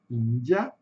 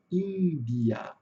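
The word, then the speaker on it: India: Pode ter a pronúncia Índia ou a pronúncia Índia, tá? Aqui no final aparece o chuá. Então aqui alguns detalhes importantes, ó. A sílaba tônica é no começo, ínguia.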